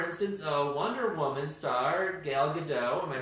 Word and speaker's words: Gal Gadot: come true because no one's still no one pronounce her name and it's gal gadot yeah a gal good don't give it Jasmine